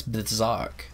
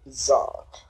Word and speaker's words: Bzok: Oh, it's Bzok. That's how you pronounce it. Bzok.